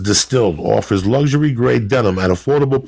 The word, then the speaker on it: DSTLD: DSTLD, pronounced distilled, offers luxury-grade denim at affordable price jeans that would normally cost you hundreds, dog.